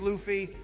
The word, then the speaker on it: Luffy: Luffy name wrong okay it's not Luffy it's Luffy I will have to